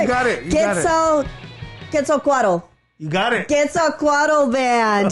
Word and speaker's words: Quetzalcoatl: Oh my God, I said I was going to pronounce it right. You got it. Quetzalcoatl.